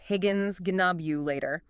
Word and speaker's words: Higgins Ghinknobulator: The Higgins Ghinknobulator. You just have to appreciate that. You really do. Can you say that again for us? Of course. It's pronounced Higgins Ghinknobulator.